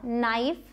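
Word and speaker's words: knife: अब एक चीज़ है साइलेंट के, कई बार आप पाएंगे कि के साइलेंट होता है, और स्पेशली अगर के बाद एन आया है, और मतलब कि वर्ड के शुरुआत में अगर के बाद एन है तो आप के को नहीं बोलेंगे, ये साइलेंट होगा, नाइफ, नो, नाइट, के का कोई साउंड नहीं आया।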